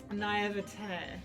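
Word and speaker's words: naïveté: How do you pronounce that? Naivety. Naivety. This is one of those words that I realize I've probably never said out loud before in my entire life. I can spell it. That's what comes of reading and not actually talking to humans, so... Yeah, you know, not exactly. I mean, they did actually, naivete. Thank you, that sounds right, doesn't it?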